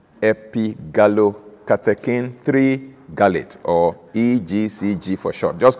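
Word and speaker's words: epigallocatechin-3-gallate: way to call it the full pronunciation can be you know jawbreaking it's actually gallow catacane three gallate epi gallow katakin three garlit or egcg for sure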